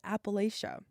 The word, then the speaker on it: Appalachia: And so, before I moved out to West Virginia, I always said Appalachia. That was the only way I'd ever heard it out west. Um, but I quickly realized that more commonly people say Appalachia. And so now, that's what I say. I say Appalacha.